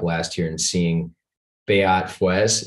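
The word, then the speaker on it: Feuz: I remember specifically watching World Cup last year and seeing Beat Fuez. Is that how you pronounce his name? I was wondering. Foyts.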